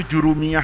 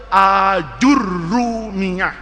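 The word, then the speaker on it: الآجرومية: Itu jurumiyah itu istilah Indonesia orang Melayu kita. Sebetulnya itu dibacanya aljurrumiyah. Jadi alifnya itu panjang a. Jimnya dibaca pakai dommah.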